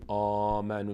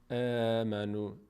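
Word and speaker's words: آمنوا: به همین همین خاطر در هنگام تلفظ حرف حمزه ما دهان رو به سمت بالا باز نمی‌کنیم نمیگیم آمنو میگیم ا دهان به سمت بغل باز میشه امنو امنو نمیگیم آمنو اما در کلمه صالحات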